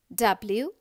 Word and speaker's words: wrench: W-R-E-N-C-H, wrench. Children, here W is silent.